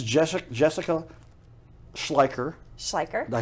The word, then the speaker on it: Schleicher: Schleicher.